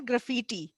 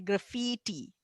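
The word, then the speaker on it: graffiti: और इसकी प्रोनाउंसिएशन है ग्राफिटी। एक मिनट, देखो आपको मैं इसकी प्रोनाउंसिएशन पढ़नी सिखा देती हूँ। ये जो 2 बिंदियां लगी होती है ना, ये आई की आवाज को लंबा करती है। ग्राफिटी, ग्राफिटी नहीं, ग्राफिटी, ग्राफिटी, ओके।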